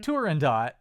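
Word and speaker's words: Turandot: I mean I pronounce the T because it's an Italian opera and they don't do silent T's.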